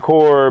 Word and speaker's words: Corps: And so um the Marine Corps and so I was like core and you say it like core but then it's you know spelled with the PS at the end and so I was